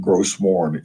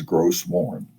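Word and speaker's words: Gros Morne: it's pronounced bonnie bay a lot of places in newfoundland look like they have a french origin but they've anglicized the pronunciations like gross morn is gross mourn so this is across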